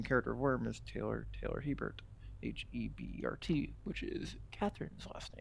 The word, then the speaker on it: Hebert: And it's kind of always a big misconception that Herbert is Hebert. That's the writer of Dune. His name is Herbert. Hebert, or in French, Ibert, is spelled and pronounced differently.